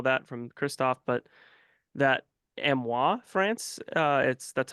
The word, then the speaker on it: Amiens: drawn and all that from Christophe, but that Amois, France, that's how you pronounce Amiens technically.